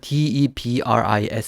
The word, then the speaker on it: debris: 데브 이라는 단어가 있었는데요 debris 줘 어 얘 끝에 스가 발음이 안 되고요 뭐 침전물 같은걸 대부 이라고 이렇게 얘기를 합니다 그래서 어 하얀색 침전물